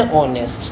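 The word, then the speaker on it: honest: ठीक है, even though यहाँ पर एच है, इवन दो यहाँ पर एच है, पर एच साइलेंट है, तो जो साउंड आ रही है वो ओ की आ रही है।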